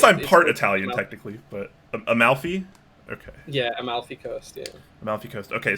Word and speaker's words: Amalfi: know I don't actually know how this is pronounced I'm not I got a mile I guess I'm part Italian technically but amalfi okay yeah Amalfi Coast okay so this is